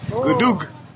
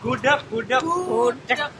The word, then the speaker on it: gudeg: Gudug. Gudug? Duck. Still not saying it right. Say it. Gudeg.